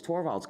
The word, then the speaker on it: Torvalds: it not long before and that's when Lenus Torvald came along. Linus or Linus? What's the exact your preferred pronunciation?